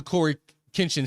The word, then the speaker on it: CoryxKenshin: Listen, Cory talking about the X is silent. Why is the X there? Why is there X there? The X silent. Listen, here's what I know about the Cory Kinchin slander.